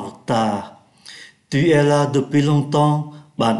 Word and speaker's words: longtemps: Và chúng ta để ý ký tự em ở trong chữ longtemps phát âm là n, do bởi nó đứng trước ký tự p. Tu es là depuis longtemps.